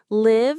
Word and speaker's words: live: Live as a verb pronounced like give with a short i sound means to have life or to reside somewhere.